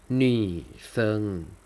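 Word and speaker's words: 女生: นัก เรียน ผู้ หญิง อ่าน ว่า นี่ เซิง นี่ เซิง นี่ เซิง มี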